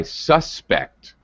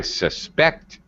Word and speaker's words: suspect: english he is my suspect for syllable stress i suspect he stole the money i suspect second syllable stress when it's a verb this is actually very